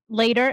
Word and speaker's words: Later: Spell it out Later. For us. I'm Later, Later. T-E-R. Yes. Like see you later, alligator.